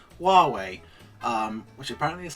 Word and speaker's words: Huawei: people all like to tell me how to pronounce Huawei which apparently is how it is said also